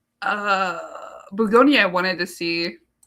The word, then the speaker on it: Bugonia: Uh, Bugonia. I wanted to see I've been pronouncing it Bolognia this whole time.